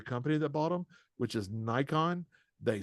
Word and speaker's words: Nikon: to say the company that botom which is Nikon they say nicken so the nicken company that that owns Mark